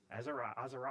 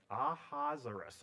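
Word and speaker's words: Ahasuerus: Azer Azer I see I got to go back to my pronunciation. Aaa Ahazerus. Ahazerus.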